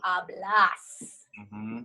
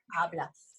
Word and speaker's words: hablas: Because this word ends with an S, right? So the stress naturally falls on the second to last syllable, which in two-syllable words is the first syllable.